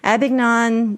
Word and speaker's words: Abingdon: So Daniel is the campus pastor at Elizabethan Campus and director of adult ministries at Highland Fellowship Church in Abingdon, Virginia. How do you pronounce that?